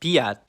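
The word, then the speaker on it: п'ять: now let's look at the Ukrainian word for five which has an added aposto it's pronounced Pat did you hear the difference in how this letter was pronounced I think of the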